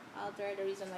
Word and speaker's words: ALTR: Oh, and by the way, Alter doesn't have an E, so it's spelled ALTR. Alter, the reason why it's Alter, because we want to change the world, right?